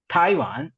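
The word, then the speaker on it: 台湾: அடுத்தது தாய்வான் தாய்வான். Again நீங்க டி வர்றதுனால இட்டு சவுண்டு ஸ்ட்ராங்கா.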